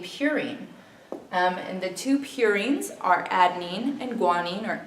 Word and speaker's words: purine: um and the two purines are Adine and guanine or a and g as you may have heard it U the U and purine rhymes with two so U and two